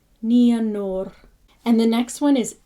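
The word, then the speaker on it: Nienor: Remember, it's the I and the E separated. Ia. Nianor. And we're not at the consonants yet, but R is always rolled. So it's Nianor. Nianor.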